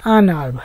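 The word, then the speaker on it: un arbre: আনার্ভ, একটি গাছ। আ অর্থ একটি, ভয়েলের দিয়ে শুরু হওয়ার কারণে কিন্তু এই আটা এরকম ভাবে উচ্চারণ করতে হবে, আনার্ভ, একটি গাছ।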